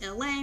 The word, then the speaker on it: AL: So you guys, my name is LA, pronounced like LA like the city.